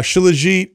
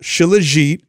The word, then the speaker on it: shilajit: ever hey I want to say something uh shilajit back in stock with organifi that that blew